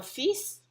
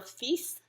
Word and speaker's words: fils: Un fils. Notez bien l'exception avec le S. On va prononcer le S. Un fils.